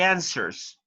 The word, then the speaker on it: answers: Okay, when you pronounce this word, the letter W is silent. You do not pronounce it. You say read the answers.